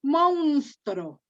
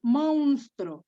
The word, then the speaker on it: monstruo: este no se dice no se dice monstro no es monstruo el monstruo es como si